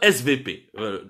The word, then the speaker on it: SWP: de sécurité, le fameux SVP. Ouais, il écrit SWP, mais en allemand le W se prononce V.